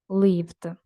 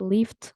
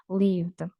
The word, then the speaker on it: lived: Okay, leave, lived. Okay, not lift or leave it, lived.